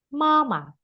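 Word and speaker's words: 妈妈: Mama nada satu. Mama. Mama. Datar. Datar dan panjang.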